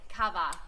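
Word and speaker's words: kawa: come up come up it's ka W a cava so enjoy many cups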